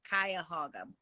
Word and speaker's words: Cuyahoga: C A C U Y So, think buy a hog. Cuy- Cuyahoga.